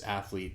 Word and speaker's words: athlete: Like adding the extra syllable. It's not athlete, it's athlete, but to mix with blasphemy, baffle me.